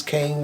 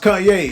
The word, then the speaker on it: Kanye: was like man who the hell is this kane west guy i never even though it was